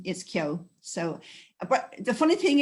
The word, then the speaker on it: Keogh: idea so forward my mother's maiden name is kyo so but the funny thing is tracy when